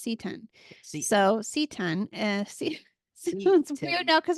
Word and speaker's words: seton: s t o n but I thing is pronounced setan so seon weird now because we can't practice